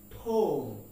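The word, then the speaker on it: tomb: ইজ টি ও এমবি আমরা এটাকে টোম বলি টোম সমাধি কিন্তু এর উচ্চারণ হবে টি ও এম ঠোম ঠোম ঠো নট টোম নট টোম ঠোম ওকে এবার আমরা দেখব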